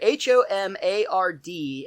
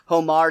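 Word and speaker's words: homard: spelled h-o-o i'm sorry h-o-m-a-r-d and the d is silent so it's pronounced tomar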